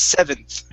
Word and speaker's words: seventh: were these numbers okay so i want to practice the th sound here so instead of instead of seventh it's seventh barton seventh the th at the very end you're going to pronounce that like theta oh okay seventh uh-huh